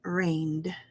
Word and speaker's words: rained: e d and say rained repeat after me when you can rained it just has that d sound at the end be careful not to say reindeer we call that the